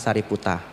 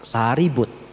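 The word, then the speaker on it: Sāriputta: rupang sepasang Bante mogalana sariputa bahasa thaainya prak prak mogalana k prak saribut ya prak saribut itu bahasa thaainya mereka punya cara pelafalan yang berbeda Nah nanti dijualnya itu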